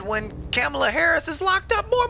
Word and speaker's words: Kamala: our new president uh camilla harris he said it's kamala i thought gibbyshell that's how she pronounces her name bro i don't give